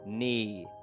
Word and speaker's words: knee: We say knee. Just get rid of this K. Imagine it doesn't exist and say N E.